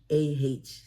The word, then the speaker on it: Nikenbah: Nikenbah. So they say Nikinba. I'm like, it's Nikinba because it's got Nike on it.